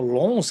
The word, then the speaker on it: Lens: Foram o Lens, que é o Lons, que a pronúncia, né?